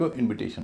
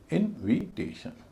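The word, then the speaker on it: invitation: पहले जो आई है जो इनवाइट में आई का उच्चारण दे रहा है उसका उच्चारण छोटी इ होगा और उससे पहले जो है आई एन उसका उच्चारण वही होगा जो होना चाहिए इनविटेशन इनविटेशन इनवाइट का इनविटेशन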